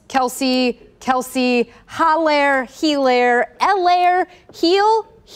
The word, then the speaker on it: Kelce: maybe the best response is clyde edwards lair kells kelsey kelsey holler hilaire elaire heel heel or hill